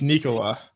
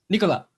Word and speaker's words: Nikola: Vic asking Jokic, like, have we been saying your first name wrong since you've been here? And he was basically like, yeah. So it's Nikola. Nikola. He's like, you just say it slow. It's Nikola.